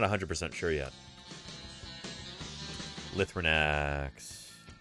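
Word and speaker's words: Lythronax: Lithrinax. Or Lithrinax. I've always heard it pronounced Lithrinax.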